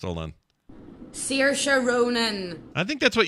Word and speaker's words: Saoirse: But let's hear the name the way it's pronounced. Hold on. Saoirse Ronan.